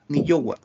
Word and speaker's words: ni yowa: Ni yowa. Ni yowa. Aquí es separado. Ni yowa. Para que se entienda bien, son 3 sílabas.